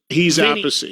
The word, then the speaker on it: Appice: No, he's Appice. Yeah, that's very confusing to me. Okay. And there's a third. They have a sister. What's her name? Appice.